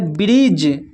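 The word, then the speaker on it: bridge: यहाँ पर देखिए हैज, हैज में जो है डी के बाद देखिए यहाँ पर जी आया हुआ है तो डी साइलेंट है, हैज। फिर है ब्रिज, ब्रिज।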